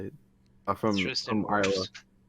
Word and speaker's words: Wirfs: Wirfs. Wirfs.